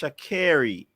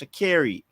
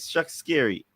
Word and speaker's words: Shericka: She says her name is pronounced Shakiri. That's how she said it's pronounced. Shakiri. Where you get Shak Scary?